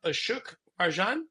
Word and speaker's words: Ashok Rajan: But to help us out with that, I'm honored to have Ashok Rajan.